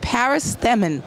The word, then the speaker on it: Paris Themmen: And I'm here with Paris Stemmen. Did I pronounce that right?